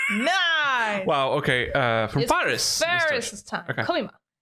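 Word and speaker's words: Faris: Yes, I still I keep pronouncing it Fis because that's what my Mayori says. Yeah. Oh, she says No, she says Ferris, but I But it's Ferris.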